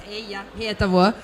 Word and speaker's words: Eija Hietabuo: You make me sound very exotic with your pronunciation of my name, which is a blunt, old-fashioned Finnish name, so it's Eija Hietabuo.